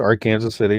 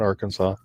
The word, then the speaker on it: Arkansas City: And yes, in Kansas, we pronounced Arkansas City, not Arkansas.